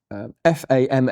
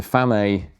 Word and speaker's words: FAMAE: So, it's uh the product of F A M AE or FAM is how I tend to pronounce it. I'm not sure if that's how it's pronounced in Chile, which is where this is from. Designed and made in Chile.